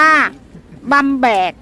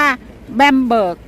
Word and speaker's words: Bamberg: นิด นึง นะ คะ ถ้า เป็น ภาษา เยอรมัน จะ เรียก ว่า บัง แบก ส่วน ภาษา อังกฤษ ที่ เรียก ว่า แบมเบิร์ก บาง ที ไม่ เยอะ อาจ จะ ออก เสียง ทั้ง ปั้ม แบก และ ก็ บัมเบิก นะ คะ ให้ เวลา เดิน ทาง